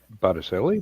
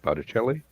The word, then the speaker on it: Botticelli: who did the painting Botticelli Botticelli um I have absolutely no grasp of how to pronounce Italian butter chili sounds right yeah the the C is often pronounced like a CH we had a running